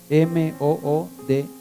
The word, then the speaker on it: Moody: se los inventó dlmudy averigüense Moody m o o dy Moody se pronuncia el fe que se